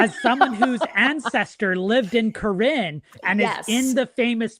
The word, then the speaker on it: Corinne: And he set up his home base and lived for a while in Corinne. Am I pronouncing that correctly? As someone whose ancestor lived in Corinne and is in the famous picture of the